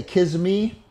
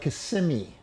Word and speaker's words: Kissimmee: First event is going to be on, I used to say Kissimmee, but it's like Kissimmee, what they say. That's how you properly pronounce it.